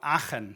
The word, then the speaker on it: Aachen: Can we, on the count of 3, all pronounce my hometown, which is displayed here, which is called Aachen.